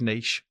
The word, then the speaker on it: niche: is whether it's um and by the way the correct way to say this is niche um whether it's niche thank you great